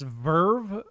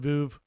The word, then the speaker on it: Veuve: I believe it's pronounced Verve officially. I've heard the sommelier pronounce it Veuve Clicquot, but you know what I'm talking about. Everybody else calls it Veuve.